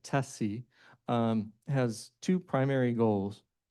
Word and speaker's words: TSCI: The Transportation for Safer Communities Initiative or TSCI as we're pronouncing it, TESSI, um has two primary goals.